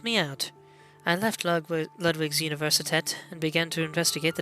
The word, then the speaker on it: Universität: But the U at the start is pronounced like ooh, so Universität.